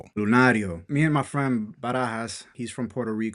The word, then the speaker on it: Lunario: I want to make sure I pronounce the name correctly. The name of the album, Lunario.